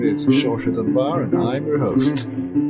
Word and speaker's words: Saoirse: Thank you, Saoirse. Thank you. Perfect pronunciation, by the way.